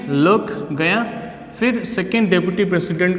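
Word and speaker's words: Klerk: Then on the stage mister D लर्क, क्लर्क नहीं है लर्क, ये के साइलेंट में आएगा, लर्क फर्स्ट स्वान।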